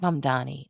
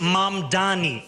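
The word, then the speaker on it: Mamdani: and younger progressives like Mom Donnie, a state assemblyman and a self-described Democratic socialist. The name is Mam Donnie. M A M D A N I. You should learn how to say it.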